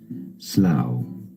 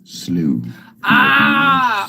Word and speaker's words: slough: sluffing right um but it's called slow unless you're American then you call it slooh I'm Canadian sorry slooh